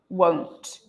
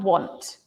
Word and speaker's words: won't: won't o o o won't not want won't o o o yeah your mouth changes o o o won't